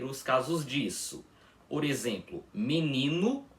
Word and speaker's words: menino: Porque vocês podem reparar que nós não pronunciamos menino gosto com a letra O com som de o mesmo, um fechado, o invés disso, pronunciamos com som de u. Assim, menino gosto.